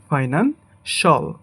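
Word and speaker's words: financial: ক্রুশল ক্রুশল এটাকে আমরা বলি ফাইনান্সিয়াল বাট এটা হবে ফাইনানশল ফাইনানশল এটাকে আমরা বলি আর্টিফিশিয়াল বাট এটা হবে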